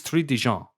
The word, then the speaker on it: Trintignant: In all my years of pronouncing difficult surnames, this might be my final boss. Maurice Trinidad Trinidjant Trintignant Trintignant Maurice Trintignant.